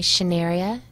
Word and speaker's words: Schnearia: find me on LinkedIn my name is spelled SCH n EA RI a shin area and the last name